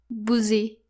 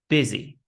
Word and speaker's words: busy: So, it's not boozy, but it's busy. Busy. The word busy rhymes with dizzy.